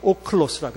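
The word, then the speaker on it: ὄχλος: 거기 헬라어 오클로스라고 읽는데, 오클로스. 이거 오클로스. 여기 람다고 여기 L 발음이에요. 오클로스.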